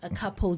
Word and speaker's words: Akapo: Is that how you pronounce it? Yes, Akapo Jewels.